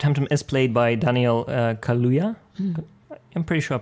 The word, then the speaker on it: Kaluuya: It is, Fred Hampton is played by Daniel Kaluuya. I'm pretty sure I'm pronouncing that correctly. Yeah, and he Londoner, Daniel Kaluuya, Exactly.